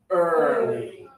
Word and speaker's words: early: Early. Good work. Some students over pronounce it and say. No, it's not. It's just your lips should be forward and open.